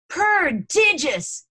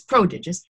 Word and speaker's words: prodigious: rocket is launched and he mispronounces it. He says, prodigious. And it's prodigious.